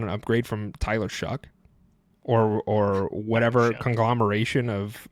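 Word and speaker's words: Shough: Is that how you pronounce his name? Are you just making that up? Yeah. No, it's Shuck.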